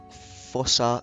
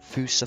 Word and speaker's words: fossa: that moving on to some fosa fousa facts it doesn't matter how you pronounce it it's it's just up to you really so the fousa